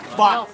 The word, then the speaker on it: baht: So you say bot. This is to block. Okay. How do you say money now? Bot. Okay. That if you they pronounce with B, so you're supposed to go B sound.